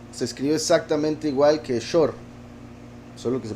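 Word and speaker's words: שור: Shur se escribe exactamente igual que Shor, solo que se pronuncia diferente. Shor y Shur con Vav, ¿verdad? A veces como O, a veces como U.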